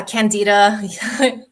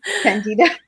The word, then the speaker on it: Candida: And then the next one I have here is the Candida Cleanse Program. Mm-hmm. Am I pronouncing that right? Yeah, Candida. Candida.